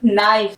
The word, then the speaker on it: knife: KNIFE, नाइफ, कोई चीज कट करनी है आपको, ठीक है।